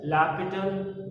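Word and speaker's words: L'Hôpital: we're discussing about latitude no spelling of the same hospital whatever but it will pronounce it as lapital rule laptop all the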